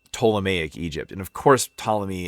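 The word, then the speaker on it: Ptolemy: And of course, Tommy is pronounced spells with a P pt. I don't know why it just can't be a T.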